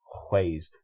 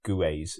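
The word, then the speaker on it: Kwak: that pronunciation as well quays not guas if you're English right there's quays I had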